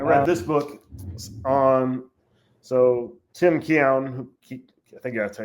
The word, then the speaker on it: Keown: I read this book on Tim Keown, I think I gotta tell you, Keown, that's how you pronounce his last name.